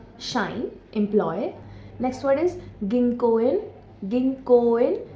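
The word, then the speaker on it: 銀行員: Next word is गिंकोइन। गिंकन। इसमें जो को है वह लॉन्ग साउंड है।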